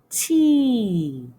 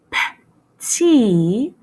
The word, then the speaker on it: petit: La lettre T. But guess what? C'est silencieux. Shh. On ne le prononce pas. Okay? Let's put it all together, ensemble. Petit. Petit.